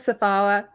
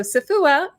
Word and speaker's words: Safowa: So, it rhymes with Um, Kahlua, but even then, it's still a challenge.